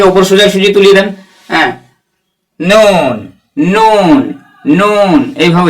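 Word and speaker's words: نون: সোজাসুজি তুলে দেন হ্যাঁ নুন নুন নুন এভাবে উচ্চারণ করবেন জীবের আগা তার বরাবর উপরে তালুর সাথে লাগিয়ে উচ্চারণ হবে নুন এভাবে উচ্চারণ করবেন ওকে এরপরে দেখুন 10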